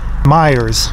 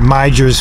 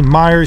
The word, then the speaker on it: Meijer: now this is the Meijer store I pronounced it my Jers for years when I used to